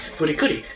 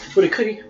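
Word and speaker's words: フリクリ: The closest you could get to writing Fooly Cooly was pronounced Furikuri, as R was the closest thing to I. Thus, it is only pronounced Furikuri when read aloud, though the name is still Fooly Cooly.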